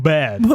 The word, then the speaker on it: WBAD: Don't forget, we're also available at WBAD Radio at Karen, that's pronounced bad.